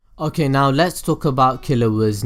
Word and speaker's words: Killua: Killua is based off the term kill or killer in English, however in Japanese his name is pronounced as Killua, which has the mix of kill, which is translated into kiru, and killer being kira.